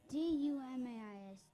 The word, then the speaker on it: Dumais: D-U-M-A-I-S.